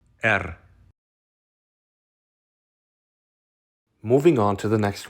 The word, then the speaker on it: Р: R.